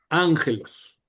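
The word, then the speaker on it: ἄγγελος: Cuando nosotros leímos ángelos, estaba así, ángelos, ángelos no se pronuncia con de la otra manera porque esto nos indica cómo pronunciar esta vocal.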